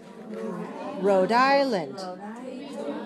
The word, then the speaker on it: Rhode Island: Rhode Island. 3, 2. South Carolina. How many syllables?